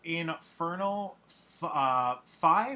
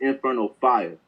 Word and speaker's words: Infernal Fire: It's called Infernal Fi, right? Is that how you pronounce it? It's Infernal Fire.